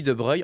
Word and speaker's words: de Broglie: a un scientifique français Louis de Breuil en plus ça s'écrit de Broglie je sais pas pourquoi qui lui a proposé